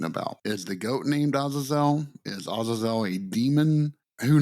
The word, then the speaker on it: Azazel: It's Azazel. Get it out of your head. This is not the right pronunciation.